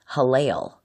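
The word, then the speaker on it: הילל: rendering of the Hebrew word that's a transliteration, pronounced Halel, from Isaiah chapter 14, verse 12, given in the King James Version of the Bible.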